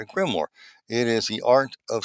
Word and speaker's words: Grimoire: No, it is a Gamorah. It's a Gamorah Grimor a Grimor let me just pronounce that right a Grimor.